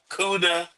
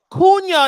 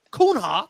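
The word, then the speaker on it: Cunha: top transfer targets are cuda. Okay. Okay. Okay. That's enough. That is enough. That's enough. Couna. Kuna is the man's name. We got to tutor you and Sean how to pronounce God.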